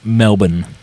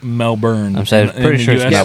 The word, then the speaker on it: Melbourne: actually you know melbour they they they pronounce it Melbourne Melbourne them they're wrong there's no RS that they didn't win two world wars it's melbour no but they were all